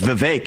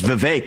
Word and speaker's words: Vivek: open up I say my name's Vivek it rhymes with cake it ain't about me